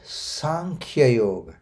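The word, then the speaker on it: सांख्य योग: to keep it good so it is sank yog not the S yog unfortunately most of the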